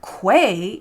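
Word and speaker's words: Kwe: wook language we learned that Quay is how you say hello in both migma and wstu that's really cool and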